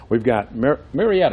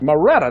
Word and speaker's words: Moretta: We've got Marietta, that's how you... Moretta. Moretta, that's yes. how you pronounce it.